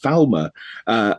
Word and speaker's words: Falmer: It, pronounced Falmer down here.